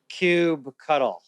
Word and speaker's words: kubectl: How do you pronounce kubectl?